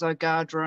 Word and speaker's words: Ogadhra: it better so um is a english uh version of the the proper name which is ogadra and i'm i want